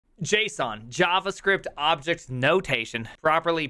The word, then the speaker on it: JSON: Json JavaScript objects notation properly pronounced and was almost called the Gizmo Gizmo